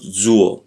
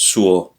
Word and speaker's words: suo: suo a yeah sure it's not zul it's sure because no I'll say most of the time the s the letter s in Italian is pronounced as a zed but here it is like an s to say my your